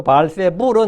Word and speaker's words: 바알세불: 바알세부는 그 의미가 파리대왕이라 했는데, 바알세불라는 거냐, 헬라식 발음이라 했죠. 그 바알세불은 그것을 격화시켜서 똥의 대왕, 이렇게.